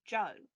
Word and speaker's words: Djo: The band is called Joe, but it's spelled DJO.